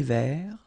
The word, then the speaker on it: vert: Un thé vert, final T not pronounced. Un thé vert.